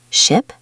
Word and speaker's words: ship: Ship, sheep. Ship, sheep. Good. The first one has a short I sound, the second has a long E sound.